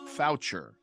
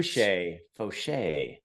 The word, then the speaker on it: Faucher: Faucher? So. It's the French pronunciation, and you barely screwed it up because I've had it said on an overhead speaker in the worst possible way.